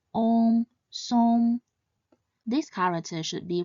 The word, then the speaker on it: 送: This character should be pronounced in the fourth tone, song, song. Note that although it has the same spelling as the word song in English, it should not be pronounced as such.